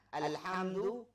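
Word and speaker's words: الحمد: Alhamdu, ini juga kepada ha tenggorokan.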